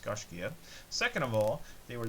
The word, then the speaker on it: Gaiscioch: is the gosh anyways first of all it's pronounced Garcia second of all they